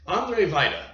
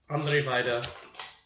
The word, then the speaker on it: Andrzej Wajda: i've got it i figured out how to pronounce his damn name and i'm just oh gosh all right figure it out andre vita three war films number 282 we are finally kicking it off andre vida starting off with number 283 andre vida a